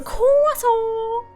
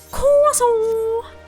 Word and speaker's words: croissant: So I named her Kaso. Yeah. No, no, no, no, no. That's not how you pronounce it. It's pronounced quaso.